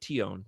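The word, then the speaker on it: Tionne: I say Tion, 2 syllables.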